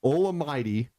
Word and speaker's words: Olamide: It's Olamide, Olamide for Zacchaeus, and Michael, Mycole for Pruitt.